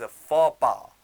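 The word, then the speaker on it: faux pas: your next word आपके सामने जो है इट्स पापा व्हाट इस पापा पापा इस अन सोशल ब्लेंडर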